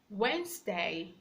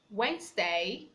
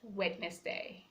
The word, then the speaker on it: Wednesday: scissors science science sense sense the C is silent letter D a silence before the letter A or letter G we have Wednesday Wednesday not wetness day we have badge but grunge we shall have